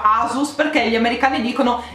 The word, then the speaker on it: Asus: di inculcare di testa per non sbagliare ancora asus ragazzi con l'accento sulla ru asus al marchio ragazzi che